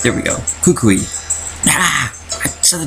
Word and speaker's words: Kukui: pronounce that name right Kukui no you shouldn't have a W sound it doesn't have a W in it Kukui there we go Kukui ah so the W